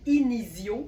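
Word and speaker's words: Inizio: et que vous cherchez inicio, ça s'écrit comme ça se prononce, I N I Z I O.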